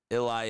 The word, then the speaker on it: Illini: I think it's ili n i ill i n i n i though I could be wrong. J it's pronounced like illi.